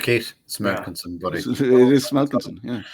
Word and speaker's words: Smelkinson: Smelkinson. Yeah. It's as you read it, Keith. Smelkinson, buddy. It is Smelkinson, yeah.